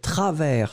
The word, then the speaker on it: travers: Ensuite, travers, souvenez-vous, S final qui n'est pas prononcé, T-R-A-V-E-R-S.